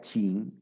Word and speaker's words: Qin: En español, Qin, como les expliqué la semana pasada, se pronuncia Qin.